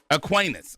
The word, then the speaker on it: Aquinas: And is it Aquinas or Aquinas? Aquinas.